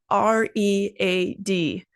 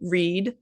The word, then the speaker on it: read: R E A D. We pronounce it differently depending on time. So, in the present tense, it's read. like I read a lot of books, but in the past tense it's pronounced read.